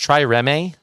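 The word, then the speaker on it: trireme: it uh the try i think it's pronounced try remy but yeah that is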